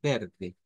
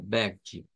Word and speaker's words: verde: Se dice nada más que con una R suave, verde. Se puede pronunciar así, pero la pronunciación, digamos, más común es esta, verde.